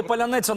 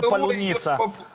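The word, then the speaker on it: Паляниця: я вам серйозно кажу то можливо і Поляниця навчаться вимовляти нарешті То вже Ну а не палюниця сму идёт по плану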